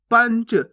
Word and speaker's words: पंच: पंच कैसे पढ़ेंगे? पंच, पनच नहीं, पंच।